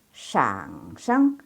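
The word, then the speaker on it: 上声: Shang sheng. Ingat di sini tulisannya shang. Tapi di sini dibacanya nggak dibaca nada keempat, nggak dibaca shang, tapi dibacanya nada ketiga.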